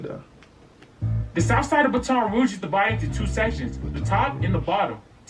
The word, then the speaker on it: Baton Rouge: The south side of Baton Rouge is divided into two sections, the top and the bottom.